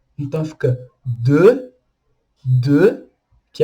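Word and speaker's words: deux: Tem um X no final, mas a gente não pronuncia o X, igual a gente viu na letra B anteriormente. Então fica de.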